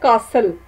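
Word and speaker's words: castle: अब आप खुद से देखें कि इसमें से कौन सा लेटर है जिसकी साउंड नहीं है। शाबाश, वेरी गुड, ये है टी कासल, तो इसमें टी साइलेंट है।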